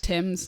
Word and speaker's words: Thames: Is it Thames? Is it like the river? Yeah, like the Thames. Thames.